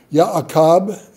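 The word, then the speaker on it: יעקב: Ya'akab is how you'd pronounce it in Hebrew.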